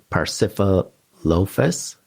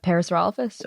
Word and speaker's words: Pachyrhinosaurus: to say the word, Pachyrhinosaurus. Am I saying that correctly? Oh, the Pachyrhinosaurus or? That's bingo.